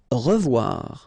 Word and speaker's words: revoir: Revoir. Okay, remember to pronounce this like a revoir. O-E together is pronounced like wawa. Revoir.